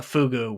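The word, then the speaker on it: Pfugu: a price fister faucet it's called a fugu with a pf yes it's it's a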